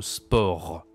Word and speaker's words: sport: Il y a beaucoup de mots comme ça, on doit pas prononcer la consonne finale.